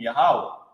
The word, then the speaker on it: Yahawah: the end okay so they started with y a h a w a because that's God's name yahawah but then remember the letter uh J wasn't invented until what the 1600 is where they got yay ho W where fake Israelites say Yahweh from ye h o w